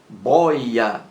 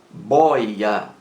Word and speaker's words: boia: bóia bóia com acento boya boya é uma palavra paroxítona possui duas sílabas boy a bóia e aí está